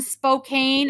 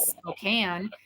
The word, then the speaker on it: Spokane: and they go and your address is in Spokane I said no it is Spokane and you do well to to pronounce that correctly and we feel the